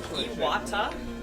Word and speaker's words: Iwata: It's pronounced Iwata, Iwata? and there's only one T.